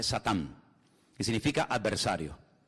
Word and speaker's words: Satán: que viene del hebreo en hebreo no se dice Satanás dice satán que significa adversario y